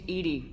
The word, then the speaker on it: EDI: the airlock is ajar why are you named ed ed is the phonetic pronunciation of Ed I that is an acronym